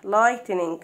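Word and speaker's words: lightning: بعد كده عندنا بارك لايتنينج لايتنينج، هنحوش الايه الدي اتش سايلنت ما تتنطقش.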